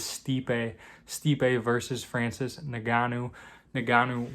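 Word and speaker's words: Stipe Miočić: i did look up how to pronounce that before this video so you don't have to deal with me saying stipe or anything anymore it is stipe stipe versus francis naganu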